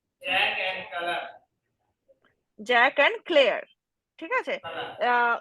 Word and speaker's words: Claire: Jack and ক্লেয়ার। ঠিক আছে, Kala. উচ্চারণটা ক্লেয়ার, CLAIR, ঠিক আছে।